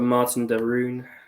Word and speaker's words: Martin de Roon: you can start us off I'll go for Martin de roon that's how you say it um mainly because